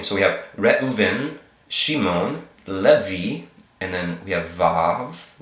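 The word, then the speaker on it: לוי: Lamed with an e sound, le, a vav with a e sound, so le, vi, and then a yod to kind of finish it off with that y sound at the end.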